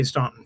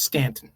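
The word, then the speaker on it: Staunton: Stanton, by the way, if anyone's never been to Stanton, Virginia, it's spelled Stuntton, but you immediately know that you're not local if you say Stuntton. It's It's Stanton.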